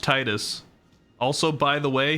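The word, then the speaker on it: Tidus: named Titus it's pronounced Titus also by the way his name being a play on the water the tides his water weapon Blitz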